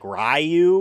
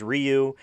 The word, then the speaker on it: Ryu: mispronounced shadu and shadowa they also said like rayu or and not like his name is Ryu they're like oh yeah